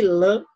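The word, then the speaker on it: Le Pen: nacional de marine marine lan lan é assim que pronuncia além de outros de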